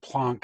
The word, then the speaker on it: Planck: H okay it's called Planck's constant actually plunk is probably a better way to pronounce it closer to the correct way so Planck's constant yes